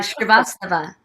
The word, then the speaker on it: Srivastava: Pronounce it for me. I never say your last name. Oh, Srivastava. Srivastava.